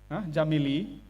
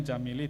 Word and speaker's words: Jamile: Jamili, bacanya Jamili, tulisannya Jamile, ya.